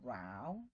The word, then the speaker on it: row: Remember the pronunciation for this word when it means a fight. It is a row, otherwise it's a row.